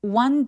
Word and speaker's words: one: one day 할 때 one은요 w처럼 발음을 시작해요. 그래서 one원 아니고 one원처럼 우로 입술을 쭉 내밀었다가 당기면서 one day라고 또렷하게 소리 내도록 합니다.